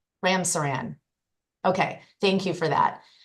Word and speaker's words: Ramsaran: Sir, am I pronouncing your name correctly? You are, Your Honor, yes. Ramsaran. Ramsaran.